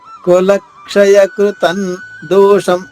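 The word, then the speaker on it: కులక్షయకృతం దోషం: పాటు ఇంకొక కులక్షయ కృతందోషం కులక్షయ కృతన్ దోషం ఇక్కడ ద వచ్చింది కాబట్టి అనుస్వర ఉచ్చారణ న అవుతుంది. కులక్షయ కృతన్ న కృతన్ దోషం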